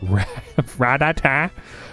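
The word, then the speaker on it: Rattata: Why did I say his name like that? Ratata. Ratata, Pidgey, Caterpie, and Sentra.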